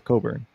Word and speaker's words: Cockburn: It's spelled Cockburn though, but it's Coburn.